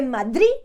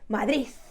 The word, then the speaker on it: Madrid: soy de Madrid so you skip that D at the end you don't pronounce the d soy de Madrid with the emphasis on